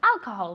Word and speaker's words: alcohol: serves alcohol very good alcohol with an accent alcohol in the first a okay nowhere else serves